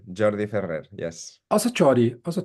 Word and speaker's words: Jordi: Catalan it's a Jordi Jordi Ferrer yes also ji also ji okay I thought it would be or something like this well that would be in Spanish but in the Northeast we speak Catalan and my name doesn't